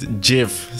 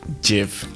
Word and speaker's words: GIF: leaves Chad Mr Bean the Creator pronounced it Jif so it's pronounced Jif pronounced gift and remove